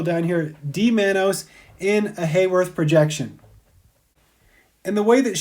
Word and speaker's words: Haworth: see here are called Haworth projections sometimes they're pronounced hollow earth projections here's another example showing